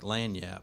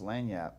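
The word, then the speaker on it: lagniappe: hard for people yeah why would it be hard to pronounce lanyap she spelled like she spelled it the way it normally is and then she put the only reason why I knew how to say it was because she put in parentheses l-a-n-y-a-p so that's the same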